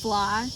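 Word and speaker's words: Flythe: ancestors were thinking um my last name is pronounced fly f l y but you add the t h e at in that is silent um yeah fly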